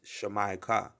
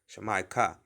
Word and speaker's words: Jamaica: right so the land of jamaica is properly pronounced shamaica shamaika all right the car and the strong's 6960